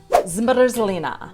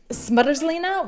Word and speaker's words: zmrzlina: Zmrzlina.